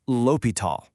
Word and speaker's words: L'Hôpital: First off, how do you say it? It's L'Hopital. Got it?